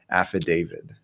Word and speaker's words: affidavit: true Etc and so I think it helps to think of David like the name affid David because you it's it is misleading the way that it's written although in Spanish we